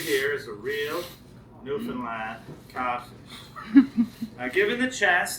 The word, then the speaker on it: Newfoundland: Newland blue star is a beer and it's pronounced Newland not New Foundland not New Finland New Finland is the oldest settlement in North